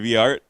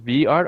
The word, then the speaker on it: V-aRt: It's pronounced V-art or VART?